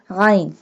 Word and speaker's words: عین: الا باللہ العلی العظیم۔ عین عین pronounced from the middle part of the throat۔ عین حلق کے درمیان